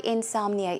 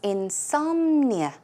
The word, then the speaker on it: insomnia: we all know what insomnia is but let's check out the pronunciation the stress goes on some so it's insomnia insomnia okay and another